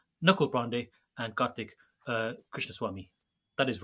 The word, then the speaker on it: Krishnaswamy: Joshi joined by knuckle brande and karik uh Krishna Swami that is right isn't it karik it is I got your surname wrong good um in my my head I